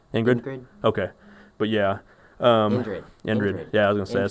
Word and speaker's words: Indrid: Ingrid. How do you say his name? Ingrid Cole. Ingrid. Ingrid. Ingrid. Okay, but yeah. Indrid.